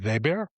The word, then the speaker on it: Weber: For those who are German challenged, it's Weber, pronounced Weber. And full disclosure, I'm a sociologist.